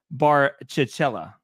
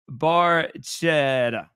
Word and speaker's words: Barchetta: So this is the Fiat Barcicella. What did he say? Nope. There's no L's. It sounds like a good lunch. I'll tell you. There's no L's in there. The Fiat Barchetta. Yep, that's it.